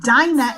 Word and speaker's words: Dinah: Like, for instance, if I ask it to phonetically spell out Dinah, it spells it out like Dinah. But Hebrews pronounced it Dina.